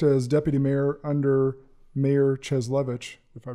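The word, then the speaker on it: Cieslewicz: And then worked as deputy mayor under Mayor Cheslevich, if I pronounced that correct.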